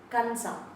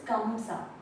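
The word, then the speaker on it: ಕಂಸ: Kansa, right? No. This is Kamsa.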